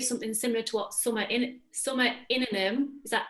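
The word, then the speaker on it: Innanen: And it reminds me of something similar to what Summer Inanum, is that how you say her name? Yes, Inanum, yeah.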